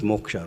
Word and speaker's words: moksha: So he's ready to give us moksha, right? But effort is on our part. And what is moksha? Two syllables, moh plus sha.